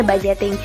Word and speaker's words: budgeting: Nah, dengan budgeting, budgeting tulisannya, tapi bacanya budgeting.